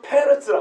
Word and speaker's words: 페레스: 이 사람은 페레스라 합니다. 페레스. 발음이 우리는 베레스인데 동명이인이 아니에요. 성경에 베레스라고 번역된 사람 중에 어떤 사람은 페레스가 있고 어떤 페레쉬가 있어요. 우리 번역은 다 베레스라는 거예요.